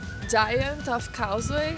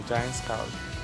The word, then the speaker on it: Giant's Causeway: A gente acabou de chegar aqui na Giant of Causeway. É assim que pronuncia? Não tem O, não. É Giant's Causeway. Giant's Causeway.